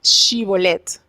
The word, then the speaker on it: Shibolet: Ellos le decían, ah, no eres, le hacían la prueba, di Shibolet. Y ellos no sabían pronunciar la sh, sino decían la s.